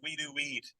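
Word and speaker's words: Wedowee: I tell people it's we do weed. You just drop the D.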